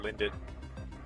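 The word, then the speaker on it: Lindt: lindit linditz I mean I'm sure it's pronounced just lint but like I like to call it linded and like Lindor or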